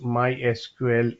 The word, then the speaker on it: MySQL: more speed okay so the official way to pronounce my SQL is my SQL not my SQL so if